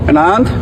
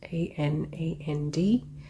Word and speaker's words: Anand: His first name is Anand, A-N-A-N-D. Indians would pronounce it as Anand, but he identified himself as Anand at the beginning of the video.